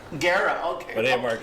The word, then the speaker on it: Guerra: And Charlie's shaking his head, so I said the last name wrong, correct? I was going to correct you. Yeah, it's Guerra. Guerra, okay.